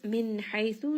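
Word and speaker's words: من حيث: Min haythu, nun sakin here is going to have idhar. It is pronounced clearly. It also has tawassut because the letter after is ha, which is one of the throat letters.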